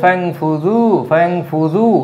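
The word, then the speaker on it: فَانفُذُوا: লেখা হচ্ছে ফ্যাং ফুজু, এই আলিফের কোনো উচ্চারণ নেই, এটা উনফুজ ছিল, আর এই ফায়ের সাথে সন্ধি বিচ্ছেদ হওয়ার কারণে ফ্যাং ফুজু একসাথে, যেমন বিদ্যালয় একসাথে, হ্যাঁ, তো এরকম ফাজুক উনফুজু, ফ্যাং ফুজু, হ্যাঁ, এই হামজারার উচ্চারণ হয় না।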